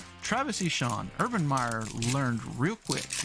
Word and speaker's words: Etienne: Or, as you know, he's from Jennings, Louisiana, and they pronounce it Eshon. Travis Eshon.